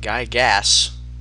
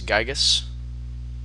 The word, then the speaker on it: Gigas: gay and it's not it's not guy gas it's gigas if you know anything about pronouncing the english language and it's kind of